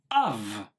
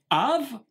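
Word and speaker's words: אב: premières consonnes aleph bête que l'on prononce ici dans le cas présent av av écoutez bien la subtilité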